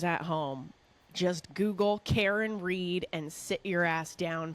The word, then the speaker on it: Read: new to listen to It's spelled read re e a d like read or reading and um basically Karen